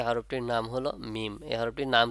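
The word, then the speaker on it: ميم: সে সম্পর্কে আমি বলি দুই ঠোঁটের শুকনা অংশ পরস্পর মিলিত এবং নাকের বাঁশি থেকে গুণনা যোগ করে উচ্চারিত হবে ভালো করে বোঝেন দুই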